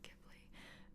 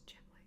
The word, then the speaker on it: Ghibli: It's not my fault that the way that it was translated into English in the first place sounds like Ghibli. In the Japanese, it's Ghibli, so that is what I